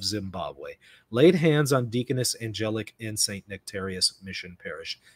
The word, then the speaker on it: Angelic: Angelic Molin, pronounced Angelic, was ordained to the diaconate in Zimbabwe.